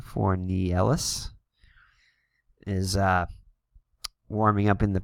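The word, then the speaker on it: Fornieles: So it looks like Mike Fornielis is, as we looked up his pronunciation, Fornielis is warming up in the pen.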